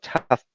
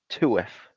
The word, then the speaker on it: TUF: I used to call it tough, but I found out it's actually pronounced TUF, and that made me an idiot.